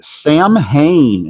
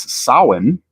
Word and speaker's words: Samhain: me in the comments, I know that the Celtic pronunciation of the fall festival associated with Halloween is sin. But that is not how this villain's name was pronounced in the real Ghostbusters cartoon.